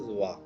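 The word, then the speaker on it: は: It connects the subject and rest of the part of the sentence, and it's written as ha, but it's pronounced as va.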